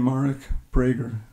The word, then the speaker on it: Marek Breiger: to go okay and I pronounced my name mark brager but my name's always